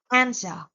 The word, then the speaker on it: answer: And be careful with some silent letter, as in island, the silent S, answer with the silent W.